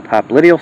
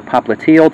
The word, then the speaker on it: popliteal: The popliteal surface, or popliteal, depending where you put your syllable, that's on the posterior